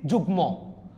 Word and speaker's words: যুগ্ম: মফলা যদি গ ট ন ন ম ল এদের সাথে যদি যুক্ত হয় উচ্চারণটা অবিকৃত যাবে। অর্থাৎ অবিকৃত মানে কি? কোন ধরনের উচ্চারণ হবে না যে এমন না। উচ্চারণ মাস্ট হবে। আপনি দেখেন এখানে কি লিখছি? যুগম। কিরে ভাই? এখন উচ্চারণ হছে। কারণতে গ লগে বসছে।